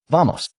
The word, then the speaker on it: vamos: The accent is on the first syllable. Vamos.